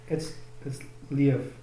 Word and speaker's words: Liev: No, it's Lev.